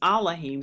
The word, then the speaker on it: Elohim: even says and Elohim another way to pronounce Elohim is Alim spake all these words